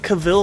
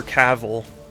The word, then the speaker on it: Cavill: my name self himself says like travel.